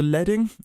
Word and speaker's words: leading: we can show you from the start so leing is uh a bit of an odd spelling it's actually it's actually spelled like leading um but it's called leing it